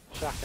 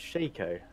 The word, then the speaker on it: Shaco: Shaka is back. Yeah, there's Shaka. Apparently it's Shaco. Yeah, apparently it is. Shake is spelled with a K.